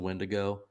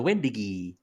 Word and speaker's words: Wendigo: We do have Slauson, or we have somebody who mispronounces the Wendigo, the Wendigy.